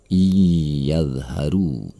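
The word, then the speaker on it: إِن يَظْهَرُوا: Lalu perhatikan kata in dan yadharu. Ada nun mati bertemu dengan huruf ya. maka ini adalah idgham bi gunnah. Nun mati tersebut harus melebur kepada huruf sesudahnya. Iyadharu.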